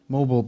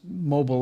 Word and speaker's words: Mobil: And in fact, what's interesting is that the people would pronounce Mobil Oil like Mobile, Alabama. So the red O was really to put the inflection on O, mobile, not mobile.